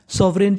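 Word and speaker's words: sovereign: पर जी है और इंग्लिश का एक रूल होता है कि अगर आपको कभी एन से पहले जी मिल जाए तो हमें जी का उच्चारण नहीं करना होता हमें खाली उच्चारण एन का करना है तो मीनिंग बन गई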